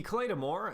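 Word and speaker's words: Claidheamh Mòr: The Claymore, and that is the Claymore. pronunciation, not the translation. I know it's the Gaelic spelling of Claymore.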